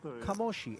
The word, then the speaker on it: Kamoshi: one Claudio De Marzo, who says it is indeed pronounced Kamoshi.